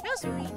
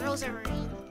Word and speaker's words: Rosemarine: rosemarine I'm look I'm look it's rosemarine actually oh my god did she say it wrong too I fall into the habit of calling her Ros Marine a habit no she